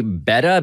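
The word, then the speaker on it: betta: This is it's pronounced apparently beta, B-E-T-T-A, Beta.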